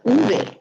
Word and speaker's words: uve: Or uve is an alternative pronunciation, but most people I know say ve.